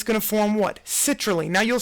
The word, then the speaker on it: citrulline: it's gonna form what citrulline now you'll say how does seats help me with citrulline just pronounce seats and does it not sound like seat Raeleen citrulline seat Raeleen so that is far